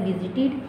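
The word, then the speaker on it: visited: आगे हमारे पास है विजिटेड, विजिटेड।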